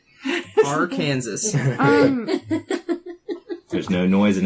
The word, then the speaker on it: Arkansas: My some favorite other thoughts are like Kansas and Arkansas, because it's Oh. spelled the same. Arkansas.